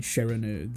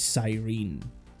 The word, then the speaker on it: Sirene: That's her phonetically spelled out Japanese name, but her name's based on the Greek siren, Yeah. so it is Cyrene. And the title makes you read Cyrene.